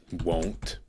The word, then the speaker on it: one: How come O-N-E isn't pronounced like phone and clone and bone? It's pronounced W-O-N.